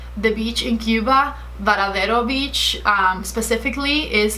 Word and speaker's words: Varadero: I feel like the beach in Cuba, Varadero Beach specifically, is like my happy place.